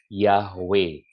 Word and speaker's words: Yahweh: Greek transcription also indicated, jadi transkripsi Yunani juga lebih mengindikasikan bahwa Yud He Vav He should be pronounced Yahweh.